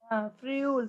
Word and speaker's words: ferrule: Then I will tell you the pronunciation. Ferrule. Friul.